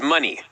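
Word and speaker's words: Moné: yes it's a requirement we must pronounce it Mercedes money so I said Monet yeah not mooning I thought Monet possibly as well but it's money money yes yes okay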